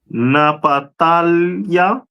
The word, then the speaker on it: Naphtali: Is the tribe of Naphtali, which is pronounced in the Hebrew Napatalia, which means my wrestling, and they are the people of today from Argentina to Chile.